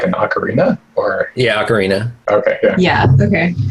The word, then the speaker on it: ocarina: an Arcana. That's like a clay flute. Oh, cool. Wait, like an ocarina? Or Yeah, ocarina. okay, yeah. Yeah, okay. It's a mispronounced ocarina.